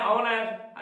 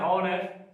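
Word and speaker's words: honest: जैसे होता है ऑनेस्ट में उच्चारण करते हैं ऑनेस्ट, लिखते हैं हॉनेस्ट, नहीं, एच वहां पर साइलेंट है।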